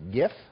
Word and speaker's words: GIF: and Carly and farrah pronounced you Jeff while Rob said it was gif yeah rob is correct ah why thank you